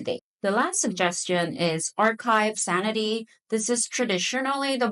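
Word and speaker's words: arXiv: The last suggestion is Archive Sanity. This is traditionally the more common database for researchers. Archive is spelled with an X, but apparently it's pronounced archive.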